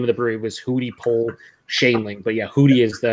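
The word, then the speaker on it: Hudepohl-Schoenling: That's how you pronounce it, Hootie Pole Shanling.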